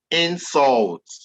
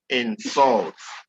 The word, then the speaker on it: insult: Okay, so as I'm trying to explain this one is pronounced as insult, whereas this one is insult, insult, insult, insult.